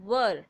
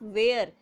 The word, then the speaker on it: were: listen here that w e our E is pronounced as were not where many of the students are pronouncing it as